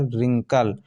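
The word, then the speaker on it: wrinkle: है यहां साइलेंट है इसी प्रकार रिंकल व आर आई एन के एल ए आर क्या है साइलेंट तो दोस्तों आशा है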